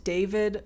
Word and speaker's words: D4VD: And David, spelled like D4VD, pronounced David.